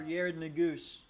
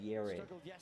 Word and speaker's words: Yared: that called a Jared Yarid. Uh well his name actually is y a r e daroey is not